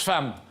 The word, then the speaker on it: femme: camarades, F-E-2-M-E se prononce femme. Et il dit, mais il n'y a pas de A dans femme.